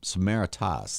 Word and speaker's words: Samaritas: And like I said, as I get to be now Samaritas, that's the correct way to say it, first of all? Yep, you got to just assume Greek.